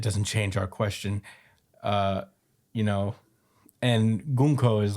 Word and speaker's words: Gunko: Loki is getting beat up by Gunko, is how I learned how to pronounce her name.